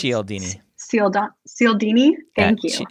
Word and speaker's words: Cialdini: According to, I also have no idea how to pronounce this. I think it's Cialdini. Cialdini. Thank you. Cialdini.